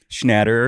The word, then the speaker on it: Schnatter: Schnatter. Schnatter.